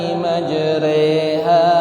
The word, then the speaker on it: مَجْرَاهَا: Imalah itu adalah memiringkan kas fathah menjadi kasroh yang tidak sempurna, re bukan ri, ya.